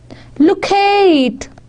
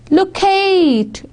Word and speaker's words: locate: They would have their first syllable stress in American English. The first syllable stress would be in American. Castrate, locate, ka and l. There is emphasis, there is stress on the first syllables. That is in American. And second syllable stress in the British English. Castrate. Britishers would be stressing on the second. Castrate, locate. It's on K. This is British English.